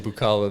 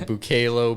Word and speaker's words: Bukala: something in common because everyone butchers my last name bukala they call me bukalo Buckaloo whatever I thought he would